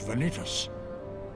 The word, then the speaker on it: Vanitas: His name is Vanitas. A creature of pure darkness. That's how you pronounce it. One of my making. Vanitas.